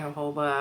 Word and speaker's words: jojoba: I think that's how you say it, jojoba. I don't know. The J is a H sound in Spanish, so that's how I'm gonna say it.